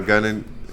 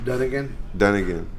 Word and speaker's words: Dunnigan: Did you see Kyle Gunnigan? How you say his name? Dunnigan.